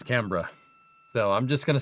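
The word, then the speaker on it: Canberra: I think it's pronounced Cannber. Every time I call it Camber or Rosebud, somebody says it's Cambra.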